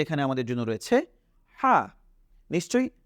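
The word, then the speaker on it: ح: এরপরে আমরা দেখছি যে এখানে আমাদের জন্য রয়েছে হা নিশ্চয়ই হা এর আকৃতিও আমাদের মাথার মধ্যে চলে এসেছে তাহলে আমরা হা টা কি করি খাতার মধ্যে লিখে ফেলি যদি লেখা শেষ হয়ে যায় তাহলে আমরা এখন এখানে তাকাই যে এখানে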